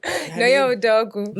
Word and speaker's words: Nonye Udeogu: Nonye Udeogu. Okay. Her name is Nonye Udeogu, popularly known as this thing called fashion.